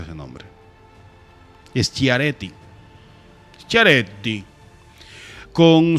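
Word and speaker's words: Schiaretti: 23.83 Patricia ella y juanti cómo que se pronuncia ese nombre es chiaretti chiaretti con 6 pun 78 por verdad son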